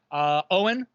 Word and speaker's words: Eogan: So Owen, who it's spelled Eogan.